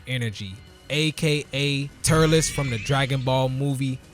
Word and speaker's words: Turles: And just as a sidebar, I can't be the only person who used to pronounce his name Turtles back when I was a kid. I mean, let's be honest, if you look at this man's name real fast, I think you'll end up pronouncing it Turtles too.